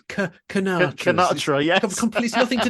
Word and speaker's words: Sinatra: We don't even pronounce it like a sir. It's Sinatra.